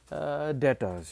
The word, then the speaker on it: debtors: to data sorry so just write data's here d-e-b-t-o-r-s pronounced as data's all right so it'll